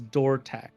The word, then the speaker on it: Dortac: You switch the D into TH. It's Dortac.